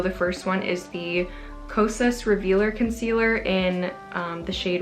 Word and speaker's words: Kosas: So thank you so much to whoever told me I've been pronouncing Kosas wrong. It's Kosas, not Kosas. I've been saying Kosas.